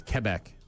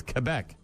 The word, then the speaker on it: Quebec: FYI, if you're if you're trying to say it properly, it's Quebec. Yes, I know. I just can't do it. Just say it. It's Quebec.